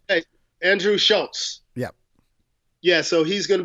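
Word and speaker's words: Schulz: pronounce that Krause Schultz but there's no T in it it's a Z it's like it's like Charles Schultz from the peanuts script hey Andrew Schultz yep yeah so he's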